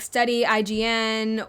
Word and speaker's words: studyign: And so I basically, I just pronounce it like studying, but some people pronounce it like study IGN or try like studyign, kind of like design.